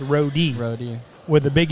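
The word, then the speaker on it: Rode: and people I mean you read it it's right but we're actually PR it's actually pronounced roie RO with a Big E there so looks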